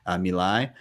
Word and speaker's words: Milei: Javier Milei, I believe is how you say his name, Milei.